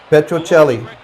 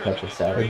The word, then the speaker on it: Petrocelli: Petrocelli. Announcer said Petrocelli. A good Italian name. He said Telly Yeah. because he doesn't know the C is a Chi.